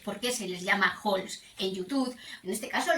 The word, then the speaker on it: haul: Si vosotros buscáis qué significa ho en inglés, que se escribe, te lo pongo en pantalla, h a u l, pues el diccionario te